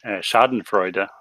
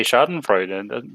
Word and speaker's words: Schadenfreude: So for example, the word Schadenfreude, the German word, is basically the exact word in Norwegian.